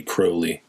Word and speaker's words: Crowley: So I think it's really Crowley. Uh that's the way he would pronounce it.